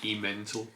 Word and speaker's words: Emmental: Pronounced Emmental.